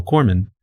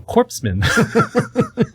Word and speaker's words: corpsman: to become a hospital corman." But it was so funny because if you look at the way corman is spelled, it's spelled like corpseman.